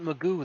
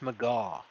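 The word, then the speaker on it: McGough: o u g h it's not magoo that's maga but everyone pronounces it magoo so everyone's [ __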